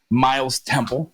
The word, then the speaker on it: Myles Temple: Those who are listening or watching, this is Myles Temple. Is that correct, Myles? Is how you pronounce it, right? That is correct.